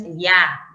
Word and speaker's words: Elías: Ah, miren, el acento aquí ya no recae en la A, como en Cecilia, ¿no? Cecilia. En ese caso, no es Elías, no es Elías, es Elías, con acento en la vocal cerrada.